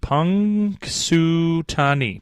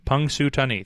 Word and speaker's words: Punxsutawney: Pronounced Punxsutawney. Punxsutawney.